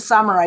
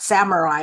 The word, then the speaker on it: samurai: Well, let the samurai be your guide. Oh, okay. And just FYI, it's not samurai, it's samurai. Samurai. Okay. Very samurai. Like all samurai. Samurai actually is Japanese.